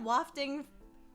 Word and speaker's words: wafting: The smell wafting. How would you read that word? Wafting? Wafting? Not wafting. Wafting. Why is it spelled like that and raft is spelled raft? Not rafting. Not wafting.